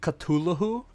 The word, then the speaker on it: Cthulhu: I some I had some dude tell me that Cthulhu was a real god from a uh a string of islands and they pronounce it Culahoo.